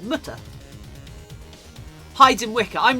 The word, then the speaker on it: Mutter: Can you say Mutter in German? Because it rhymes with German with butter. Mutter.